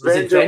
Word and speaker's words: Venger: Yeah, it's Venger, but it's spelled like you said it.